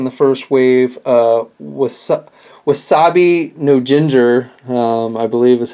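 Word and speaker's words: Wasabi No-Ginger: two figures in the first wave uh was wasabi no Jinger um I believe is how you pronounce his name and and then goo tomago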